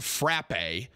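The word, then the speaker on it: frappé: listen to these idiots it's pronounced frappe it's a french word for beaten apparently the experts in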